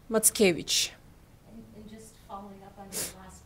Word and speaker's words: Mackiewicz: in our blood and his last name pronounced matkevich and just following up